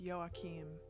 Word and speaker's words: Joachim: In Dutch we spell it as Joachim or Joachim. Very cool. That's neat. That's a cool name. With the nice throaty Dutch. So it's like Joachim, like maybe like that. I don't know.